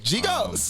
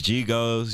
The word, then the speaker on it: GHigos: Yeah, and you definitely said it right. GHigos. For sure. It's GHigos, you know what I'm saying?